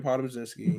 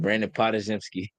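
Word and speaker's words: Podziemski: They got Brandon Podomzinski. Mm-hmm. Um He looked good. I Who? said his name wrong. AirPods. Spajemski. I fucking said Pazimski. Brandon Podajemski.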